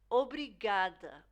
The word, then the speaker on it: obrigada: Obrigada, obrigada. So this is more of an oo really than an ah, you know.